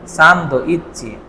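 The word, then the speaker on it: サンドイッチ: এখানে ছোট সু আছে তাই না? সান্দ ইচ্চি।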